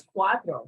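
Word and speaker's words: cuatro: not four four is Quattro so the T and the r will be reversed okay for Quattro c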